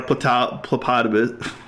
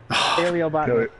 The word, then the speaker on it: paleobotanist: This is our phlebotomist. Hippopotamus. Plebonist. Pronounced hippopotamus. Paleobotanist.